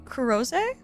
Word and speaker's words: Chloe: Wait, Khloe's name being Kurros, but it being written in English as Chloe.